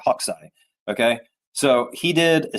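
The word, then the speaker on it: Hokusai: Um, this artist, his name is, it looks like Hakusai, but it's just pronounced Hawkai, like like a bird hawk and its eye. Hawkai.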